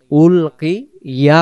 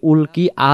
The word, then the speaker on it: ألقي: কুল্লামা উলকিয়া, উলকিয়া হবে, উলকি আ যেন না হয়।